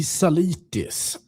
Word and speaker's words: Zalitis: How do I pronounce your name again? That would be Salis.